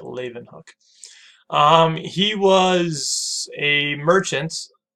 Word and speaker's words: Leeuwenhoek: That's how you say it, Leeuwenhoek.